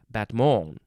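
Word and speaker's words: battement: followed by a beat against the supporting foot batmon so this is french from batra b-a-t-t-r-e which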